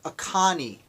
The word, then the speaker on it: Oconee: let me pronounce it right. I want to read it to make sure it's right. The Oconee River.